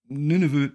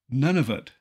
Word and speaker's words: Nunavut: about 40,000 mostly Inuit Nunavut is frequently mispronounced none of it with that in mind